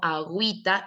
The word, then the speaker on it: agüita: regla que dice que la consonante G va poder llevar diéresis siempre y cuando después de ella continúe o la vocal e o la vocal i. Es por eso que yo digo agüita y, luego sigue la i con diéresis.